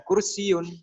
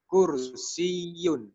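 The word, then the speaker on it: كُرْسِيٌّ: Nah, saya membacanya bukan kursiun tapi kursiyun. Berarti pada huruf ya-nya ada penekanan.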